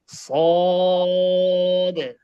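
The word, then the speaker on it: صاد: আওয়াজ দিয়ে বলতে হবে গোটা দিয়ে উচ্চারণটা হবে সদ উচ্চারণটা কি হবে সদ সদ সদ বলে নরম হবে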